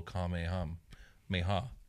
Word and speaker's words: Kamehameha: said, with this little Kamehameha. That's how they say it in the show.